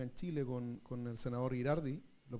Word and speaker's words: Girardi: Los neurodatos, que parte acá en Chile con el senador Girardi, ¿lo pronuncio bien? ¿Sí, siempre me equivoco? Siempre digo Giraldi como el grupo de música antiguo.